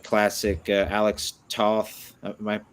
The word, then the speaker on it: Toth: saw that had that almost like classic Alex Toth. Am I pronouncing that last name correctly? Alex Toth, yeah.